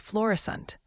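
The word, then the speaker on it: Florissant: It's pronounced florescent.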